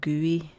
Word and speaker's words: GUI: GUI for sure and you pronounce it GUI so this is a